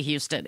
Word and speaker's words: Houston: We also have a street in New York called Houston. It's spelled Houston. Yes. But you do not say Houston. It's Houston.